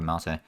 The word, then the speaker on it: yerba mate: Or yerba leaves, we can turn that more into yerba mate. I keep calling it mate, but I think mate is probably the more correct pronunciation there.